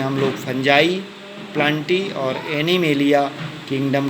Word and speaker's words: fungi: इसके बाद जो तीसरा जगत आता है फंजाई, जिसे हम किंगडम फंजाई FUNGI फंजाई, कोई इसे फुंगी भी प्रोनाउंसिएट करते हैं।